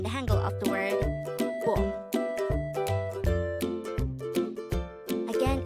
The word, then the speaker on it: 봄: Again, it's 봄. This is pronounced as a one-syllable word.